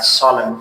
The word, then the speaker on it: solemn: It is N is silent. جدی, چهره جدی, like a solemn face, a sad face means.